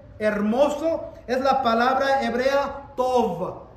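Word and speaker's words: טוב: aquí cuando dice hermoso es la palabra hebrea tov t o v es la palabra común to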